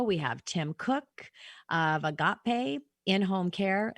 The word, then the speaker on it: Agape: And good job 3 times pronouncing Agape correctly.